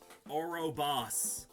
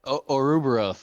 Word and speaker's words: Ouroboros: Orobos. Oroba. Oro- Ouroboros. Got it.